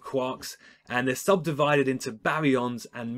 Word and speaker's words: baryon: And they're subdivided into baryons and mesons. Think of your syllables. Baryon, three syllables.